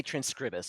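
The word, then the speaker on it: Transkribus: Transcribus, I would say transcribus. I would use the Latin ending pronunciation.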